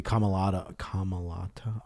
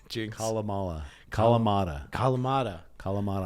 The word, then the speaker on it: Kalamata: They must be Kamalata olives. Is that how you say it? No, Kamala Harris. Kalamata olives.